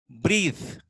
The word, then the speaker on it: breathe: Breathe. We say breath. Wreath. Sheath. All the sounding. Yeah, but here E is there. E is silent here.